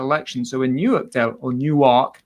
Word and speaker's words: Newark: so in Europe or Newark Delaware as they pronounce it locally they had a special